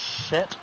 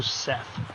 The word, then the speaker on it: Seth: know that it is Set, or you can call him also Seth. That's how it's spelled. That's how it's spelled, but it's pronounced Set.